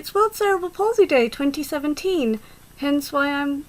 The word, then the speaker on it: cerebral palsy: it impact on you my disability is cerebral palsy sometimes called cerebral palsy eg the pronounciation is fine and it impacts on